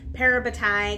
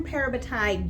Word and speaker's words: parabatai: of the things and I've heard this pronounced a couple different ways but I just say parabatai because that's the way it sounds in my head but they have this